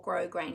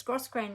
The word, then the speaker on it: grosgrain: is the um gross grain ribbon ribbon or grosgrain depending some people pronounce the yes and some don't it's gross grain ribbon it's 1.3 centimeters wide or half an